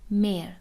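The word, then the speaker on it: mehr: پس ها اینجا خونده نمیشه، میشه مر. ولی فرقی که داره اینه که های خونده نمیشه، اما یه ذره این حرف صدادار ما کشیده تر تلفظ میشه، مر.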